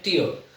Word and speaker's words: tear: तो ये जो ऊपर वाला जो है, ये है ऊपर जो लिखा है, इसका प्रोनाउंसिएशन है टीयर. तो टीयर का मतलब होता है आंसू.